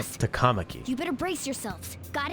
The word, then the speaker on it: Takamaki: Is that, I thought in Japanese they put the emphasis on the first syllable, like The Takamaki, shadows have noticed not us. Takamaki.